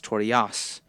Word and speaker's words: Toriyasu: His name is Yasuo, but his informal or nickname is Torias. In translation, it is spelled Toriasu, but is mostly pronounced without the U on the tape.